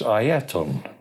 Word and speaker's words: Ayrton: of aan senna's name the correct way to pronounce senna's Christian name name is Aon uh and his actual full name is Aon